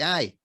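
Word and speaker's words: aye: We say I. But that doesn't make sense. So, but we say I as in A-Y-E. That's I for yes.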